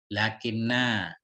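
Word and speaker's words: لٰكِنَّ: Lakinna. Lakinna. Walaupun nggak ada panjang di sini panjang nih. Tetap lakinna bacanya.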